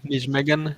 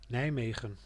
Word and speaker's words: Nijmegen: Is that how you pronounce Yeah, it? Nijmegen.